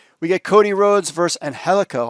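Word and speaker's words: Angélico: get Cody rhods vers anhelo I kept always saying Angelico but it's anhelo as they pronounce it not really sure what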